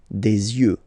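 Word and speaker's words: des yeux: Don't pronounce the final X as usual. You des you. All right.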